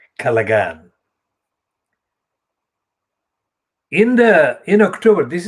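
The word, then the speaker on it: Callaghan: called james calagan well i don't use the pronunciation callahan because i use the pronunciation as i find the spelling which is kalagan in the in october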